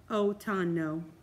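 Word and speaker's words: otoño: to be fall or autumn and that is pronounced let me see we're going to listen to it oh tono and then our next spanish word is going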